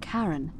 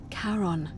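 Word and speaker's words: Charon: it's just as you described it only your pronunciation is a little off the name you heard wasn't karen it was c-h-a-r-o-n as in caron the ferryman of the dead caron who in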